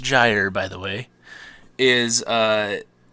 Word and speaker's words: gyre: be this conglomeration thing and a gyre it's pronounced gyre by the way is it's like an ocean